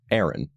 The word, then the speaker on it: Aran: In English, pronunciations vary from Aran to Aran, but in Metroid Prime 3 Corruption, we got the correct pronunciation from one of the voice actors, which is Aran.